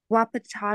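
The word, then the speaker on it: Wahpeton: you said hold on is w-a-h-p-e-t-o-n Wapato to me yeah you're saying it right okay I I was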